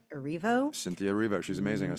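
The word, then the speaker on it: Erivo: uh Cynthia I think her last name is pronounced uh arivo Cynthia rivo she's amazing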